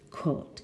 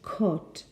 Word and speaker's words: caught: And letter B, we've only just caught the train. So there's no R pronounced there, no? It left seconds after we got on it. No, but in received pronunciation, we have caught in both cases, no?